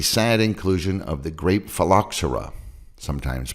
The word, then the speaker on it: phylloxera: can avoid the sad inclusion of the grape phylloxera sometimes pronounced phalaxera these are sap sucking insects similar to aphids